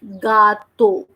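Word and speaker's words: gâteau: Now the sound of letter G, which is pronounced as alphabet J, but the sound is G. Okay. So we are saying the word like gato.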